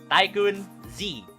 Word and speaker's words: TaikunZ: right so here's me my name is taikan z you you can pronounce it as tycoon z uh some people i